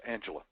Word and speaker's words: Angelia: happen to know that her name looks like it's angelia but it's angela that's it okay pronounces